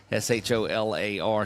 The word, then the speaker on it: Scholler: Mary Scholler is at, there you go, Scholler. See, I got it. And look, it was the most polite correction of the way to pronounce a name ever. So thank you, Mary, for that, for being very, very, very polite in that. It's Scholler. Scholar.